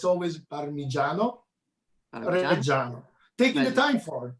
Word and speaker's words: Parmigiano Reggiano: I know it's not easy, but I want to spend a second to repeat it together, how to pronounce properly. Parmigiano Reggiano.